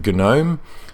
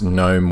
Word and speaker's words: GNOME: it no me either free software advocates typically in my experience pronounce it genome but of course Noam works fine as well so I just wanted